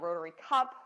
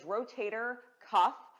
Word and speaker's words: rotator cuff: a pronounced rotator cuff we get a lot of Rotary Cup rotator Cup how do you say it it is rotator cuff C uff and it is comprised